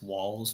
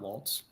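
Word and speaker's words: Walz: going to say say there's no T in walls' name it's walls not Waltz that's all I keep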